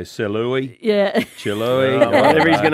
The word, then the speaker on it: Celui: It's spelt C-E-L-U-I. Celui. It's French.